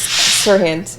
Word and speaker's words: SERHANT: SERHANT. So, that's the pronunciation, SERHANT. Correct.